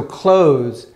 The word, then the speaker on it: clothes: So clothes, there's often a pronunciation mistake here. Is that, so TH says th, right? So we have one cloth, right? But when we get this ES here, the TH goes away. So this sounds like clothes.